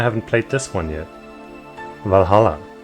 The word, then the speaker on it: VA-11 Hall-A: Valhalla. I'm not gonna pronounce it any other way because that sounds like a pain in the ass.